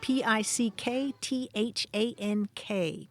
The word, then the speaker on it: pickthank: a handy word the other day pick than that's spelled p i c k t h a n k pick pickthank pickthank M how old are we